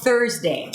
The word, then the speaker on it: Thursday: So Thursday starts with a TH and then the R immediately. Let's do it together. So you stick the tongue up for the TH and then you pull it in for the R.